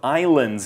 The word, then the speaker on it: island: She says the thousands of islands in the bay come straight up from the water. Right, and the word island is not pronounced island, even though that's how it's written, I-S-L-A-N-D.